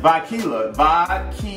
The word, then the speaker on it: Vodkila: to vacilla it's pronounced by kela love like vodka tequila it's a dope name